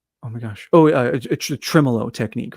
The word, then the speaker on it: tremolo: So to have that uh that you said is it tremillo? Is that how you say it? Um tremolo.